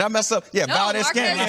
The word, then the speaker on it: Valdez-Scantling: Yeah, no, Valdez-Scantling.